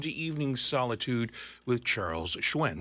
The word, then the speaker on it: Hsuen: Our handle is Charles Halifax Radio, or you can go to my personal Facebook page at Charles Hsuen, which is pronounced Hsuen, and you can add me as a friend, and I can certainly add you as one of my friends.